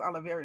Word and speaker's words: Olivier: I always said Oliver Martinez, but I think it's Olivier Martinez.